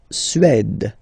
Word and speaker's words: Suède: La Suède, la Suède, Suède. Remember, accent grave, it's really open.